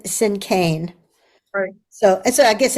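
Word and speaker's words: cinquain: the Cain you said it's a spelled um c i n q u a i n pronounced sin Kan and was um her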